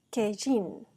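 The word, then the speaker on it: קין: también podemos notar que el nombre de Caín en hebreo se pronuncia kejin que significa lo tengo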